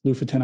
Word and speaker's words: Lofoten: to the lutheran they it's spelled lofoten they pronounced it luffford and i still don't know how to do it properly but um we went to the la futon islands loofaton islands and it's a really remarkable place it's